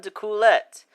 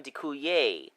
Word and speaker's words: D'Coolette: for AC Reinhardt antoan dulet although I hear that since the name is French it would technically be pronounced antoan deuer I'm not really sure